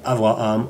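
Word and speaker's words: אברהם: nom du fameux patriarche abraham prononcé avraham en langue hébraïque l'histoire d'avoir à mme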